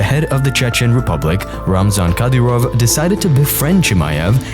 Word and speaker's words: Ramzan: Ramzan, yeah. He surprised you with a Mercedes-Benz? Yeah, actually gave me 3 times. 3 Benzes? Three Benzes? Yeah. As his stardom grew, the head of the Chechen Republic, Ramzan Kadyrov, decided to befriend Chimaev and celebrate his